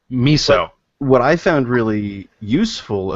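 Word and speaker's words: Musou: very familiar with the Musu game. Muso? What do you say that? Musu? Anyway, very familiar with Dynasty Warriors games. It's mousy. Mousy? Mousy. It's pronounced miso.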